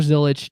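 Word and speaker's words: Zilisch: But I go with Connor Zilich, Justin Love.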